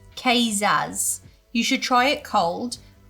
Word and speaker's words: Kvass: The typical Russian soft drink is pronounced Kazaz.